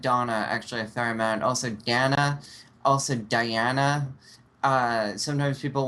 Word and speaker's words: Dana: sometimes unicorn hi yes also my name is pronounced Dana this has been going on the entire time